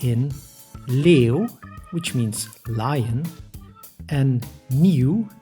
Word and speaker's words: leeuw: These specific combinations are pronounced like eeuw and eeuw, like in leeuw, which means lion, and nieuw, which means new.